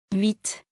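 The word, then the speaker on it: huit: Before a consonant, T is silent. Example. 8 citrons. 8 citrons. When counting or alone. 8.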